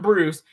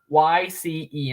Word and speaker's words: Bryce: But Fat Man's real name, I don't know what his last name is, but his first name is actually Bryce. It's not Bruce. It's spelled Bryce, and that'll probably go up on the wiki at some point after this stream is over.